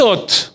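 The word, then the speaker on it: אות: ¿Alguien recuerda en alguna aula por ahí cómo se dice señal en hebreo? Se dice ot.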